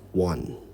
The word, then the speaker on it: one: o and e however it is pronounced one like it starts with a w so so rule number